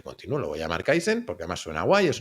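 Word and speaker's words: Kaizen: Entonces dije, "Bueno, pues podcast aprendizaje continuo, lo voy a llamar Kaisen porque además suena guay, es un nombre corto, e es memorable, no pensé que se pronuncia con s y se escribe con Z y luego la gente no se aclara, pero bueno."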